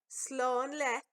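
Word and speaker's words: Slán leat: Here's to say Slánlet.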